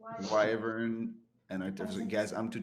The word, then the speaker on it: wyvern: It is wyvern. Never mind. but now MMK, how do you pronounce your class? Artificer. Artificer. No, nobody says art. Artificer. See, it's I said- artificer. Artificer. No, it's wyvern and artificer.